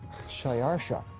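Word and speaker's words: Xšayāršā: persian which is his original native language is shayarsha that was hard for the jews to pronounce so they said ahashverosh we know him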